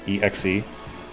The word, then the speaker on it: exe: It should be pronounced by the letter. You don't say X, you say E exe.